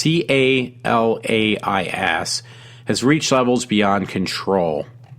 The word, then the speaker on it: Calais: It says adds to growing concerns that, if I'm pronouncing it right, it looks like Caleares. It's Calais, has reached levels beyond control.